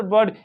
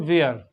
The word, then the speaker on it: were: डब्लू ई आर ई इसको लोग क्या करते हैं प्रोनाउंस कर देते जैसे कि वो पढ़ रहे हो डब्लू एच ई आर वेयर यह गलत है इसको इस वर्ड को वेयर नहीं पढ़ते हैं इसको पढ़ते हैं वर क्या पढ़ते हैं वर